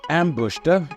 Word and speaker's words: Ambositra: ambositra or pronounced Ambush is a town in